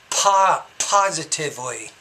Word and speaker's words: positively: To think positively. The P you need to pronounce with a little bit more air.